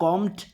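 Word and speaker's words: combed: कॉम, कॉम मतलब कंघी करना, और कॉम्ड, कॉम्ड बी साइलेंट होता है इसके प्रोनाउंसिएशन में, तो सेकंड फॉर्म हो जाएगी कॉम्ड और थर्ड फॉर्म भी हो जाएगी कॉम्ड।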